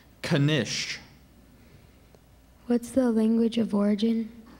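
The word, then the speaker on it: knish: i a r c h patriarch that's correct Kish what's the language of origin this word is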